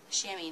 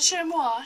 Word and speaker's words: chamois: Chamois, not the chamois, chamois. Okay, just because it's spelled funny doesn't mean that it isn't what they say.